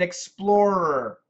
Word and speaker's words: explorer: So this is where, for standard American pronunciation, you need to master the R sound. Poorer, mirror, murderer, harrier, or something like that. So it's just a r.